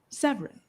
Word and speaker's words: Severin: Am I saying it right? Is it Sevra? Am I supposed to put that kind of a stress, that kind of a French, or is it just Severin? Severin. Severin.